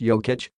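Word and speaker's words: Jokić: is something I admire Jacques ik pronounced yo kitch sees the floor with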